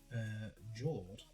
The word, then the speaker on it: Jord: So we add this back, and then we will turn these two into a Plunder Patrol ship, Jord, or York, depending on how you pronounce it.